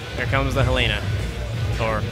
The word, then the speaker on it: Helena: And there we go, just as I said, here comes the Helena. Or Elena, I think. It's supposed to be French. I think the H is silent in French?